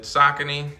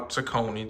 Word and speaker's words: Saucony: Today I'm gonna give you guys a quick look at the Saucony or Saucony, depending on where you from, how you pronounce it.